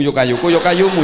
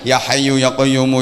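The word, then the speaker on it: يا حي يا قيوم: Harusnya kan ya hayyu ya qayyumu, ya hayyu ya qayyumu, ya hayyu ya qayyumu, ya hayyu ya qayyumu. Tapi bacanya yo kayuku yo kayumu, yo kayuku yo kayumu, yo kayuku yo kayumu.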